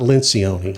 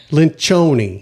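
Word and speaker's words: Lencioni: Lynchion, not Lencion, like I always say, right? Lynchion. You actually found another way to Lynchion. No. No. But I Gosh, do I appreciate the effort. Well, how do you say it then? Lynchoni. Lynchoni. Loni. Yes, it's io though, right? Not o I. But it's the ci. That's the Italian with the ch.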